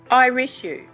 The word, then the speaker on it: Irishu: Irish-U.